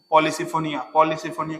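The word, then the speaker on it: Polysiphonia: बाकी देखो ये धनिया की तरह दिख रहा है, धनिया, पॉलीसिफोनिया के लास्ट में प्रोनाउंसिएशन क्या आ रहा है, धनिया, पॉलीसिफोनिया, धनिया पॉलीसिफोनिया।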